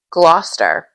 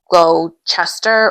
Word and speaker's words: Gloucester: Gloucester. It's said like Gloucester, but it's spelled like Glow Chester or Caster.